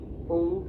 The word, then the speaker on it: ओम: अ उ की संधि करते हुए ओ का उच्चारण अधिक समय के लिए और म का उच्चारण मुंह को बंद करते हुए क्षण भर के लिए।